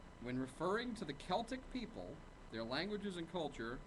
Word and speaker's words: Celtic: uh is Celtic pronounced Celtic or Celtic when referring to the Celtic people their languages and culture modern Scholars tend to pronounce the word with a k sound recalling the original form